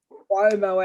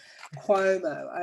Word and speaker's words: Cuomo: Cuomo. Cuomo as in Q. Cuomo.